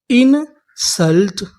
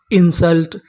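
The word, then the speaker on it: insult: एन इन एस यू यहां पर जो यू लिखा है वो आ का काम करेगा। मैं आपको बता दूं कि जो हमारा यू होता है वैसे तो उ की मात्रा का काम करता है लेकिन कभी कबभार आ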